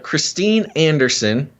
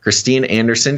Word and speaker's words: Christine Anderson: This is Christine Anderson. I believe that's at least the American pronunciation of her name here.